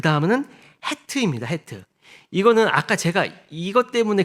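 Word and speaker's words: ח: 더 좀 강하게 내는 사람들은 이 가래를 이렇게 끌어올릴 때 이렇게 나는 소리. 그게 이제 이 히읗이거든요. 그러니까 우리의 그 히읗과는 다른 헤트예요. 그래서 이게 그냥 헤트하면 못 알아들 수가 있어요. 근데 어떻게 하겠어요? 우리말에는 그렇게 발음 안 하니까. 그러니까 우리는 그냥 헤트라고 해도 됩니다.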